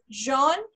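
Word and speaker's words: jaune: uh as we all know yellow yellow is pronounced as jean right jean so muscular and femina do you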